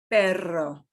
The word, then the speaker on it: perro: the word for doggy perro perro gets a stronger so if somebody if you hear the word perro perro a stronger trill they mean bow wow